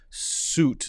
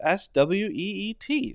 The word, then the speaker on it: suite: Actually, the correct pronunciation is exactly the same as SWEET.